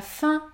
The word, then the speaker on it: fin: la combinaison suivante a i n ouaim en fin de mot ou de vent une autre consonne dans ce cas vous allez prononcer la voyelle nasale un comme dans les